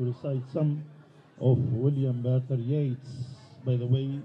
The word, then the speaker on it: Yeats: Before I go to introduce our students to recite some of William Butler Yeats, by the way, the right pronunciation is Yeats, not Yeats.